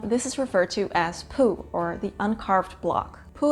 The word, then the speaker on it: P'u: The Tao of Pooh also talks about the Tao of Pooh, which is kind of pronounced like poo, but with a little bit less ooh.